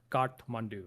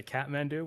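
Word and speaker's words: Kathmandu: Um and Kotmandu is the capital and that's how you say it in Nepali is Kmandu. It's hard to say. I know a lot of English people say catmandu which is fine but I say kmandu.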